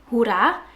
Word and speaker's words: hoera: So in Dutch we pronounce hooray as hoera.